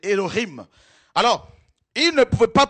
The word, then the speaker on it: Elohim: Ça écrit en français Elohim, mais c'est Elohim.